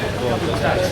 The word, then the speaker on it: Bogotá: So for the first 100 years, it was Bacatá, and then it turned to Bogotá, which was easier for them to pronounce.